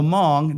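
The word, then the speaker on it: Hmong: Now the Mong that's spelled H M O N G. It's an ethnic group. The H is silent.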